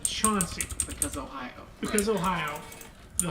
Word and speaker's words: Chauncey: near Athens called chaunting it's actually spelled Chansey c-h-a-n-c-e-y the locals pronounce it Chauncey because Ohio because Ohio